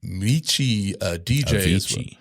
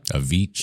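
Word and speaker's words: Avicii: Uh, also involves Anthony Bourdain and, uh, Mei, uh, DJI. Huh? A Vichi. A Vichi. My bad. I'm sorry for mispronouncing.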